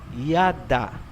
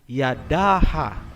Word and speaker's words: yada: Hindi po, kasi ang A ay binibigkas kung may susunod pang syllable. Kung wala nang susunod na syllable pagkatapos ng last letter, hindi na po bibigkasin ang tunog na A. Gaya halimbawa ng salitang yada. Ang ibig sabihin niyan ay praise o pagpupuri. Hindi po binabasa na Yadaha.